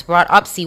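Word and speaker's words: broughtupsy: Anyway, broadupsy. It is spelled B R O U G H T U P S Y. That's broadsy.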